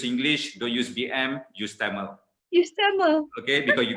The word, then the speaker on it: Tamil: Tamil. All right. Okay. Now that word in English is pronounced as Tamil, not Tamil.